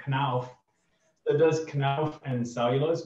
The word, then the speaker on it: Knauf: Knopf. Oh, Marcel's gonna say Marcel. You'd probably be Knauf. What's it? Knauf. Knauf. I need a bit more emphasis on it. All right, Knauf.